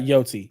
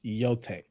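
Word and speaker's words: Yōtei: pronounce the word because it's not Yi it's yote like you were killing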